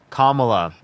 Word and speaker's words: Kamala: Kamala. If you say her name wrong one more time, I'm going to kick you from my stream.